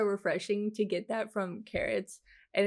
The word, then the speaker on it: Carat: coolest people ever i i think that's how you pronounce that it's it's carrots right like like diamonds um the coolest people